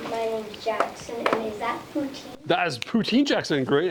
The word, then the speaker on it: poutine: So they actually call it poutine, not poutine. We call it poutine because we kind of like make up our own words when we don't know how to say them properly in a different language. But it's actually poutine is how they say it.